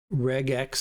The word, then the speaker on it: regex: Regex is short for regular, and it's a hard G sound, so the proper pronunciation is probably regex.